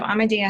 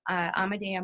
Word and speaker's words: Amadea: So you can find information there at Amadea. It's spelled just like it sounds.